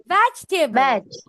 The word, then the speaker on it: vegetable: আবার বলে ভেজ, উপরের দাঁত নিচের ঠোঁট। বলো veg. Spelling সমস্যা। V sound problem. Vegetable. আচ্ছা, V এর সাউন্ড আমাদের আবার প্র্যাকটিস করতে হবে Anas. We need to practice the V sound.